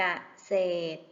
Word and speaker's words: เกษตร: สมัคร อ่าน ว่า สมัคร เกษตร อ่าน ว่า กเษตร บุตร อ่าน ว่า บุตร